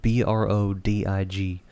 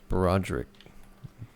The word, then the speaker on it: Brodig: all right, now that you've lost focus, his name is spelled Brodig. Brodig. Brodig. Brodig. I guess I added. My brain was adding an extra R. You're Brodig. welcome. That was Broderick.